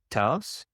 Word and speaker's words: Thuis: So it's pronounced taus.